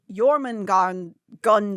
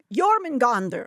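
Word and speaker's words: Jörmungandr: Because the Viper Queen is thought to be a reference to Jormungandr. Say it right, Natalie. This is my past. Jormungandr.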